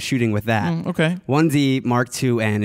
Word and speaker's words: 1D Mark IIN: 1D Mark IIN is, I guess, the proper way to say it, and a 1D Mark III.